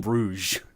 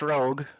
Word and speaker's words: Rogue: or is it or do you call them Rouge a lot of people call him Rouge I would say it's pronounced Rogue um oh it's definitely